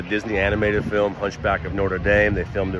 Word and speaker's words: Notre Dame: so that's uh it's Notre Dame right there I think that's how you say it North to norder Notre Dame I think is probably more correct okay so this this